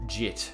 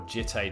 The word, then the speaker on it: Jitte: of the Animist, and Jit, or Jitte, depending on how you would like to pronounce it.